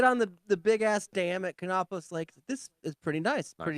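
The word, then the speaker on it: Kanopolis: even know how to pronounce the name of it. Cheney. No, it's sort of the K. Canopolis.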